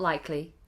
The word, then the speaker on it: likely: It's not likely. Likely. We do not drop the K.